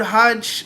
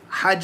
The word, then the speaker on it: hajj: he says the word hajj linguistically means and obviously he talks about the pronunciation of it hajj with a fatah hajj lingus intention objective something